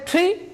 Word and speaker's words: tree: Okay, so always speak this word as tree. This is similar a little bit sound cha or kha sound, little bit, not too much. Okay, you can say tree, a little bit cha sound or ta sound.